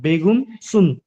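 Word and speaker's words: Begrüßung: হয়েছে প্রেগংসুম বেগুন সুম ভাই উচ্চারণটা হলো বেগুন সুম সুম সুম জি এই দেখেন বেগুন আপনি ভাইঙ্গা ভেঙ্গে করবেন এই দেখেন উমলা উঠে হচ্ছে উ হইছে দেখেন বেগুন মানে উমলা উঠ উমলা উঠ দেওয়ার সাথে ইউ এর উচ্চারণটাই তো চলে আসতেছে তাই না ভাইয়া উই উচ্চারণ আসতেছে হ্যাঁ বেগুন সুম বে এই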